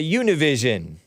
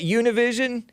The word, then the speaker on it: Univision: I'm being interviewed by Univision is that Univision or as American Anchor baby rightly pronounces it Univision union he didn't say it all all Spanish like that but look at